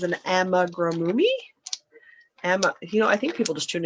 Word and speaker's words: amigurumi: Because it's an amigurumi. I think people just tune in to watch me mispronounce everything.